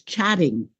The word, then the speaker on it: chatting: Chatting is pronounced like one T.